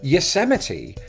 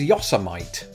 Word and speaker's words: Yosemite: quite difficult to pronounce take for example Yosemite before I look that one up or somebody told me or corrected me I don't remember which I thought it was Yosa might and I didn't grow